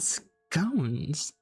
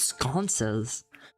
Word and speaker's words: sconces: I've been pronouncing that scones. That's sconces. What is a sconce?